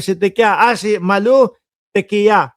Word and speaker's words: Tequia: Ah si Malu Tequia. Una ho kasi nagkakamali ako doun sa pronunciation ko nung apelido niya eh. Ngayon, Teya pala 'yung ah pag-pronounce don sa kanyang apelido.